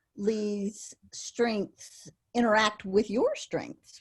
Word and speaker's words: Lea: spelled l e a you actually pronounce it lee so like l-e-e so she'd let me